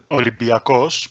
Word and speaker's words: Olympiacos: Olympiacos, but I guess with a little bit of an English accent, it might sound like you said it.